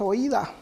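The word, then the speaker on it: οἶδα: Ahí el verbo, hermanos, en griego es oída, o oida, como lo quieran pronunciar.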